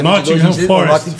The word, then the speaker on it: Nottingham: Não, a pronúncia correta é Nottingham. Tem a linguinha aqui.